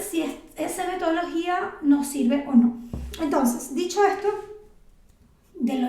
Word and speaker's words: on: Tenemos je, tu, je, tu, il, elle, on, porque la O con la N se pronuncia como una O.